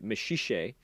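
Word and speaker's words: Maxixe: friend uh is a boy named mashishay which is spelled m-a-x-i-x-e um and mashishay is in fact a mineral um and in our world mashishay is a gem um it is a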